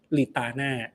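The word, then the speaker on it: Napoletana: พิซซ่า นโป นโปลิตัน ๊ะ ต้อง อ่าน ว่า ยัง ไง นลิตา โอเค อ่ะ อ่าน ถูก แล้ว พิซซ่า นลิตา ก็ เป็น เ ผม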